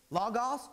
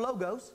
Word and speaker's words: logos: of God right here this is log off or logos depending on how that you want to pronounce it log off sir our